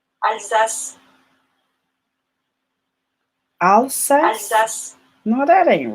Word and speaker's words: Alsace: Alsace. Like sass.